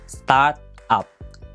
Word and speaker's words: start up: Start up. Pronunciasinya mesti dipisah ya. Start up. Kalau disambungkan startup, itu nouns yang artinya perusahaan rintisan.